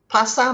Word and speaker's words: pasar: buy things for ourselves pasa means market now hear the word correctly i did not pronounce the r so it's right so pasa basa now